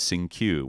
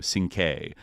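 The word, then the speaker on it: Cinque: George Jackson escape attempt, had already been given the name Sing-Q, but it was mispronounced as Sing-Q, where it should be, Sing-K, right?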